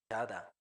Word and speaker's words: 자다: Chada. 자다, Siguiente. Mirar o ver. mirar, ver, se llama 보다, Boda, como se pronuncia como boda de algún casamiento.